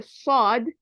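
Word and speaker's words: ص: to pronounce so uh Saad when I say sod is a very heavy I have to like frown a little bit and make my mouth Brown it's very heavy letter when I say fog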